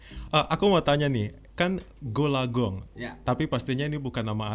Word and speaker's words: Gol A Gong: tua orang tua memberi Nama saya gold Agung tulisannya dibacanya goolagong Bapak memberi nama gol-gol